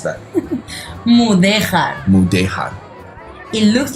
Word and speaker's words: Mudéjar: How do you pronounce that? Mudéjar.